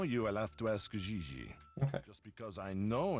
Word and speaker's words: Gigi: JJ. En français, you pronounce G like J and J like G. She may very well be JJ in America, but in France, she is Gigi.